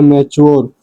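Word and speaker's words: mature: सिर्फ एक वर्ड को छोड़ के और वह है मैच्योर।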